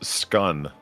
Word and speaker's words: scone: is Polly is it is it scone or scone do you know what the answer is according to Jane I have always heard it pronounced skun you know well yeah